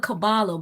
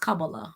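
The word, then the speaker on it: Kabbalah: cavala cavala I think I always call it cabalo but I I was watching something and reading something and it was like oh it's pronounced cabala I said okay oh wow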